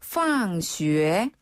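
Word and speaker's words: 放学: 학교 학교는 바로 팡슈에 황쉬에네 놀 방자를 쓰는데요. 방학이라고 읽혀지지만 그 뜻이 아니라 오히려 학교다란 뜻이에요.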